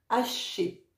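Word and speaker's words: Ashé: Quand tu es prêt, remercie en prononçant 9 fois Haché. Et Haché, ça s'écrit A-S-H-E.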